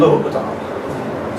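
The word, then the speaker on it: L'Hôpital: But it's pronounced L'Hopital.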